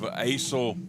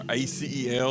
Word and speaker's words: ACEL: 446 Sports presentation of asil or acel or asil however you want to pronounce it but it's the association